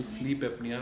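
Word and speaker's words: sleep apnea: अच्छा, अगर हम स्लीप एपनिया की बात करें तो ये क्या है? मैंने सही बोला? बिल्कुल, स्लीप एपनिया आपने एकदम करेक्ट प्रोनाउंस किया इसको।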